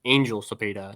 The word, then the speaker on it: Angel Cepeda: I believe that uh or from from Rich Rich Beastfeld that he does pronounce it Angel Speda, not I'm going to have to get that through my head.